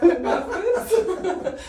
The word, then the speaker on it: Marquis: yeah you can to say your name marus it's it's not Mar I'm not a tent although okay let's spell it out let's spell it out J